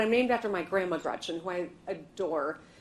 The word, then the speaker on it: Gretch: named after my grandma Gretchen, who I adore. It's funny, though, because she always said, never let anyone shorten your name. Don't let people call you Gretch, because it rhymes with wretch.